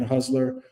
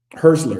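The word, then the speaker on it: Hürzeler: Uh is that um Huseler is Hustler, I think that's how you pronounce his name. Uh Fabian Hustler um Herszler, excuse me, Herszler is um has one win in 13 Premier League matches.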